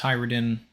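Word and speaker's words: Hajrudin: Hyridin's name is pronounced Hyridin. The Norse names have the letter J in them, are pronounced with a Y or an I sound.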